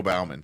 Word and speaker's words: Bauman: Okay, so is it Bauman or Bowman? I've always said Joe Bauman, but I that's how I've heard it. I don't know. I don't think I've ever heard it pronounced, so I was like, is it Bowman? I've always said Joe Bauman Stadium. I think that's universally how it's pronounced, or Coca-Cola Field.